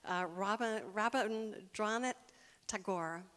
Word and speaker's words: Rabindranath Tagore: Do you know you can look up pronunciations on Google? Rabindranath Tagore.